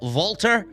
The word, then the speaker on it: Walter: They couldn't rename him under a different spelling of Walter or the way it usually is pronounced, Volter.